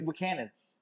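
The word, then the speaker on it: Buchanan's: How do you pronounce it again? No, seriously. Buchanan.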